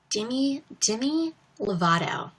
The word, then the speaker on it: Demi Lovato: Demi Lovato. That's how she says her name.